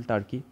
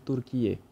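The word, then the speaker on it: Türkiye: Next, আমার ব্যক্তিগতভাবে খুবই পছন্দের একটি শহর, যেটা হচ্ছে ইস্তানবুল, টার্কি। ওকে, টার্কির নাম বর্তমানে চেঞ্জ হয়ে গেছে, টার্কির নাম হয়ে গেছে তুর্কিয়ে।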